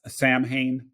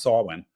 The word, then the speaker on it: Samhain: Solon it's it looks like it should be pronounced Samhain but it's actually pronounced Solon um the the trick is that within the